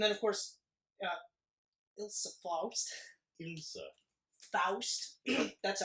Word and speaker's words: Faust: Faust. That's how it's pronounced, by the way.